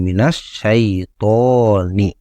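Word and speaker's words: مِنَ الشَّيْطَانِ: ini harkatnya harus dibuang pada hakikatnya si Hamzah wasal ini hanya dituliskan saja tapi tidak diucapkan kemudian Nun yang sukun di kata ketiga ini harus diubah harkatnya menjadi fathah jadi Na jadi auzubillahi Mina langsung loncat ke Sinin auzubillahi minasyaiton kemudian masuk kata kelima nah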